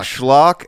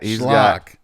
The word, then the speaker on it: schlock: Schlock and fluff. Yeah, it does sort of rhyme with cock, David.